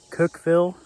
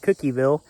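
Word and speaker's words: Cookeville: So, this past weekend, I went down to Cookville. Cookville. I don't C O K Eville. I was calling it Cookieville. No one else did. So, I thought I was saying it wrong.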